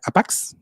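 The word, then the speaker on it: ἅπαξ: es una palabra en griego eh que se pronuncia APAX, ¿verdad?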